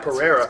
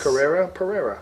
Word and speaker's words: Pereira: Pereira. It's You should have it spelled like Carrera, like Porsche. Portuguese. Pereira.